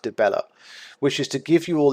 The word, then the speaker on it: Dibella: As such, the goddess Dibella, I wonder if it's Dibella or Debea, I think it's pronounced Dibella, wishes to give you all these gifts.